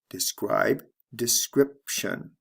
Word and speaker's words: description: changes describe description notice there are two sound changes here the long i becomes a short I describe description and the B becomes a p sound before the T describe description let's move